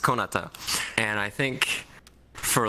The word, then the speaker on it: Konata: named my account, I intended it to be pronounced Konata, and I think for like a whole year only one person pronounced it right.